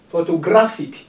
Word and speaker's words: photographic: Photographic. It's gra that receives the stress.